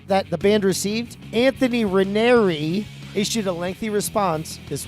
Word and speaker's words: Ranieri: Ranieri. That's how it's pronounced. Now I'm confused. Why? It's Raneri. Ra-ner-e.